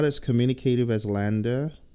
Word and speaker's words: LANDR: Some of you are wondering, what is Lambda? Lambda is spelled Landr.